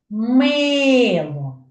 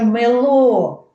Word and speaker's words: мило: на який є склад мило Я ж не кажу мило було б на другий слад мило Бачите я виділяю голосом перший склад тобто на перший склад